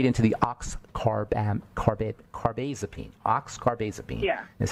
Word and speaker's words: Oxcarbazepine: They just went right into the oxcarbazepine.